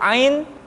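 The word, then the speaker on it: ع: Selanjutnya, pengucapan huruf a dikeluarkan dari tengah-tengah tenggorokan seperti kita mengucapkan huruf h. A, i, u, ba. Kesalahan sering muncul, huruf ain seringkali diucapkan dengan suara memasuki hidung. A, i, tidak i tapi i.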